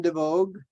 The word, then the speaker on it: DeVogue: my name is devogue that's how you pronounce the last name like the woman's magazine in New York the Vogue magazine and my uh I'm